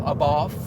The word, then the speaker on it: Abarth: Abarth. Yeah. I'm asking you as a native. Abarth.